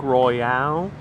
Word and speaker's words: Royale: Highly recommend Cupcake Royale here. And yes, it is pronounced Royale, just like the Pulp Fiction scene where they're talking about cheeseburgers in Amsterdam, and they say it's a Royale with cheese.